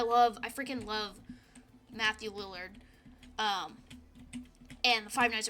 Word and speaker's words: Lillard: is Matthew Li Li Lillard Lillard I think is how you pronounced his last name oh my gosh I